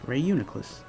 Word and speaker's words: Reuniclus: I think that's how it's pronounced, right? Yes, Reuniclus.